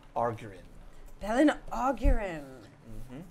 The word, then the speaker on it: Belin: You guys were on the heels of a drow priestess by the name of Belin Augurin. Belin Augurin. Mm-hmm. Belin Augurin. Yes. Let's all see how we pronounce, how you spell that.